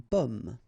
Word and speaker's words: pomme: because in that case normally it should be a bit lower, pomme, and then here more open, so pomme, okay.